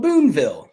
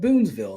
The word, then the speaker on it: Boonville: But they have a town called Boonville, which in my video I called it Boonesville, and they yelled at me. So Boonville, he's a police chief.